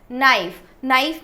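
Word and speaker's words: knife: नाइफ में के का साउंड नहीं आ रहा है तो यहाँ पे साइलेंट वर्ड क्या हो जाएगा, के.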